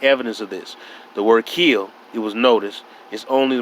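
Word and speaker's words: gille: is no direct evidence of this the word kill it was noticed is only the modernized phonetic spelling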